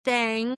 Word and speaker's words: Thang: And yes, that is Thang because regional pronunciation is important. And that honestly makes it like probably 10% more alarming because Thang, God, it sounds so stupid. Thang rhymes with fang, okay?